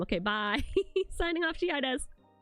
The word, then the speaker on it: Shiaides: I learned that from the short that nobody knows how to pronounce my name. Okay, bye. Signing off, Shiaides.